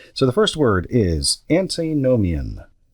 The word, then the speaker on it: antinomian: let's see here so the first word is antinomian antinomian it is spelled a n t n o m i